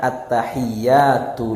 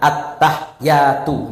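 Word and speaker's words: التحيات: betul bapak-bapak ibu-ibu ya bacanya gimana attahiyatul lillah jangan attahyatu gak itu anak TK belajar ya m di itu pak attahyatu gak attahiyatul mubarokatus shawatut thaibatulillah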